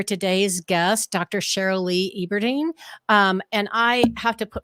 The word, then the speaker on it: Eberting: Eberting. Eberting. Okay. Wanted to get that right. I hate it when I pronounce people's names wrong.